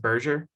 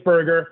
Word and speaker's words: Berger: mispronounced your last name is it Berger you did you did it's Burger but it's okay I'm